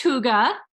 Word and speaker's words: Hygge: It is pronounced Hygge. It is spelled, have you guys seen this word before? It's Hygge. And I have heard this pronounced so many different ways. Hygge, Hygie.